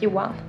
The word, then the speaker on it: Johan: And when you say it fast, it's like Johan. The H is silent, I guess.